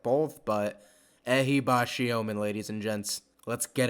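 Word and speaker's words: Ehibhatiomhan: to get it right apparently it's pronounced ahibashiomen Kelvin ahibashiomen is our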